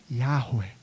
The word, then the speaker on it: Yahweh: gente não tem certeza, a pronúncia é algo como Yahweh.